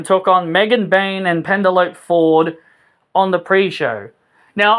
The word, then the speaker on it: Penelope: They keep pronouncing it as Penelope Ford, but I just say Penelope Ford because you know, E is supposed to be silent. Because I was always told at school the E is silent.